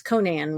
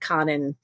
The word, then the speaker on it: Conan: Conan was the first big deal to me. Although, since I didn't know how it's pronounced back then, I think I said Conan instead Right.